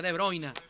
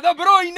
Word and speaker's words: De Bruyne: Tiene que aparecer Haaland, tiene que aparecer De Bruyne.